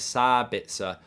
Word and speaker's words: Sabitzer: And if you're interested in knowing, Germans pronounce Sabitzer as Sabitzer with a long A or a long A, says Lone Ranger.